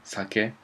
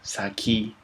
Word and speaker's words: sake: For example, you pronounce Japanese alcohol, sake. In English, you pronounce it like saki, which I don't really like.